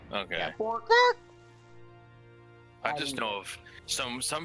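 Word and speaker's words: Bwark: It's like a bark. It's spelled Oh. B-W-A-R-K. Bark. Okay. Yeah. Bork.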